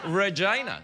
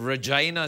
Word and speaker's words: Regina: Don't you mean Regina? That's not how it's pronounced. How is it pronounced? Regina. That's how they pronounce it.